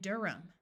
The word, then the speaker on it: Durham: There are some names where the H is silent, John and Durham.